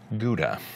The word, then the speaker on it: Gouda: And cheese, the Dutch are well known for that worldwide, especially the cheese from Gouda. Gouda? It's Gouda cheese, right? Gouda? G-O-U-D-A, Gouda. Try to pronounce that.